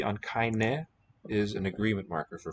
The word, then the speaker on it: keine: Whenever you hear that I, 9 times out of 10, it's going to be written EI. Keine. That final E, which would be a silent letter in English, is sounded in German always.